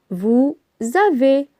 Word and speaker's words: avez: a V e Z vous avez on entend la liaison avec les pronoms personnels